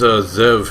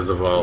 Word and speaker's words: Zavala: So what is Zev here, or whatever you pronounce his name? What does he want? I know he's my, I don't know, is he my house leader? Zavala? Yeah, Zavala.